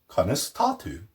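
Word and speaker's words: Conas atá tú: Conas tatu.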